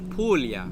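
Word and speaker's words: Puglia: to this bottle of pug you don't pronounce the G it's pulo how do you say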